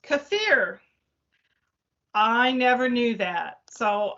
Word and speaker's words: kefir: niece taught me last week that it isn't kefir, it's pronounced kefir.